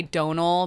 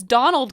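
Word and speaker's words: Domhnall: knowing how to say Donal, but everyone's like, it's Donald Gleeson.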